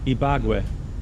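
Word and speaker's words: Ibagué: So Ibague, yeah, but the Ibague, how would you pronounce that? Ibague.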